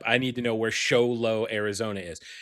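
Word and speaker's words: Show Low: A convenience store clerk in Xolo, Arizona. And I have no idea. Look that up. I need to know where Xolo, Arizona is. Xolo, Arizona.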